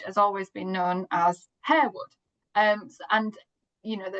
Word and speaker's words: Harewood: So, we decided to go for Herwood because obviously that's how it's um, spelled.